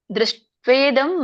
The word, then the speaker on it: ದೃಷ್ಟ್ವೇದಂ: ಅರ್ಜುನ ಉವಾಚ ದೃಷ್ಟ್ವೇದಂ ಮಾನುಷಂ ರೂಪಂ ತವ ಸೌಮ್ಯಂ ಜನಾರ್ದನ ಇದಾನೀಮಸ್ಮಿ ಸಂವೃತ್ತಃ ಸಚೇತಃ ಪ್ರಕೃತಿಂ ಗತಃ. ಉಚ್ಚಾರಣೆ. ದೃಷ್ಟ್ವೇದಂ, ದಕ್ಕೆ ಒಟ್ಟು ಸುಳಿ, ಶಕ್ಕೆ ನೋಡಿ ಟ ಒತ್ತು ದ್ವ ಒತ್ತಿದೆ, ದೀರ್ಘ ಕೂಡ ಇದೆ.